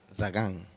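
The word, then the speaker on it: דָּגָן: Grano en hebreo se pronuncia Dagán.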